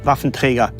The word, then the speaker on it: Waffenträger: And when I hear myself saying Waffenträger, it sounds actually very odd to me. I should say Waffenträger That's the only way how to pronounce it.